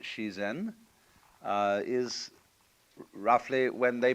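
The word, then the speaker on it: 自然: This is and so this word means nature or the Japanese pronounce it shien uh is roughly when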